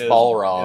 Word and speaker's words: Balrog: Is it Balrog or Barlog? No, I said it right the first time. It's Barlog. Okay. Barlog is their names. The Street Fighter character is Balrog. It's Balrog. It's the other way around.